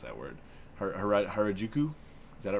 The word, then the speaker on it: Harajuku: I always pronounce like booyah, and I can't pronounce that word. Harajuku? Is that it right? Harajuku, yeah.